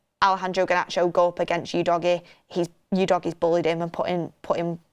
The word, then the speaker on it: Udogie: Everyone's taking the mick out of how I say Udogie.